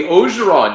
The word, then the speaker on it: Orgeron: And you caught the Orgeron. You're catching on to the Cajun pronunciation.